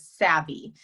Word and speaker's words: Savvi: we um the company name you guys is savvy it's spelled s-a-v-v-i we are a premium athleisure lifestyle